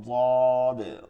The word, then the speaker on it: ضاد: কিন্তু দদের উচ্চারণ হচ্ছে মাখরাজ, মাখরাজ হচ্ছে জিহ্বার গোড়ার কিনারা উপরের মারিদাতের গোড়ার সঙ্গে লাগায়া উচ্চারণটা হচ্ছে মোটা এবং নরম, মোটা এবং নরম, ضاد ضاد ضاد ضاد।